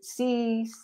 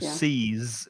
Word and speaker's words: seize: So seize with the Z, there is vibration. It's the vibration.